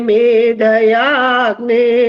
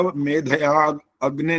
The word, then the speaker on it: मेधयाग्ने: ओम यां मेधां देवगणः पितरश्चोपासते तया मामध्ये मेधयाग्ने मेधाविनं कुरु स्वाहा। 4 गलतियां हो गई हैं। अग्नि जो अलग बोला, मेधया अग्नि नहीं बोलते उसको, मेधयाग्नि बोलना होता है।